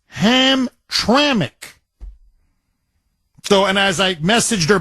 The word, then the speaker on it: Hamtramck: how you pronounce it Barbara corrected me it's pronounced ham traic so and I messaged her back when we